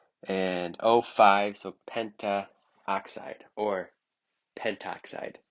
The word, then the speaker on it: pentoxide: And O5, so pentaoxide or pentoxide. Notice when the two vowels were to make like AO, like pentaoxide or monoxide, the first vowel is dropped just for pronouncing.